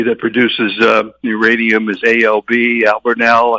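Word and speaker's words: Albemarle: Albernell I think is the correct pronunciation.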